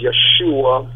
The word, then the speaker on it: Yeshua: The oldest son, his name is Yeshua, which is a Hebrew pronunciation of Joshua.